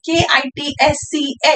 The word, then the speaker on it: kitsch: तो पहला word जो German में हम देखेंगे, that is K-I-T-S-C-H. The pronunciation is kitsch.